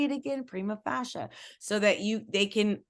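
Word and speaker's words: prima facie: you say it again Prima fascia so that you they can also build that knowledge of correctly speaking new words first it's Prima fascia Prima first fascia on its face cream of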